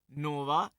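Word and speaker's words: नोआ: Okay, शायद ये उच्चारण इब्री में नहीं है, पर हम इसे ही लेंगे। ऑलराइट। सलोफाद की 5 लड़कियां हैं। ओके। महल्ला, नोवा, ना कि नूह। इसकी स्पेलिंग जल प्रलय वाले नूह जैसी बिल्कुल नहीं है।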